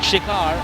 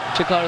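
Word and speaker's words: Shikhar: amdavad in this set the name is shikar and the way he pronounces it shikar the the the the word shikar means brave okay a young man who at the peak of his form has bangu as his pre so both works both pronunciations work chikar is not to bad learn something every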